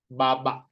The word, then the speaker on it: baba: Everyone say the word baba. Baba. So if you notice, it has this one, stress, so it's baba.